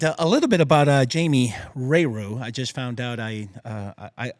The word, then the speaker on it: Rayroux: And a little bit about Jamie Rayroux. I just found out I want to say that the X is silent.